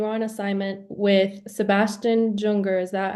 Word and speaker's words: Junger: So you said that when you were in Liberia, you were on assignment with Sebastian Junger. Is that how you pronounce his name? Yeah, I was on with Sebastian Junger, the best-selling author of The Perfect Storm.